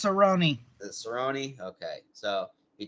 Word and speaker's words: Cerrone: with cowboy Cerrone Cerrone it's pronounced Cerrone the Cerrone okay so